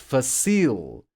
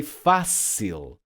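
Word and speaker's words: fácil: would be pronounced but Tria this would be pronounced facile this would be pronounced but no that's not the case we say Patria not Patria therefore the accent mark we say facil not facil therefore the accent mark and we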